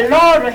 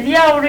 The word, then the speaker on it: 了: 이 발음도 지금은 제가 러로 했잖아요. 근데 리아오로 읽기도 해요. 리아오로 읽기도 하는데 여기서는 러를 읽어서 我吃饭了.